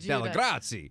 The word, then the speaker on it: Dellegrazie: And that's because I'm from Brooklyn, yo. And I can say it right. Dellegrazie.